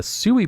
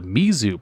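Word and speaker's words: 水: romanized spelling containing the Mizu pronunciation. They both mean water, but the Sui pronunciation is usually used for nouns that are conjugated of multiple kanji characters, with this reading referred to as onyomi.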